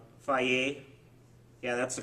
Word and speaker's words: Fage: And then we have for dessert snack the 0% Fage, Faye, yeah, that's the correct pronunciation of this yogurt.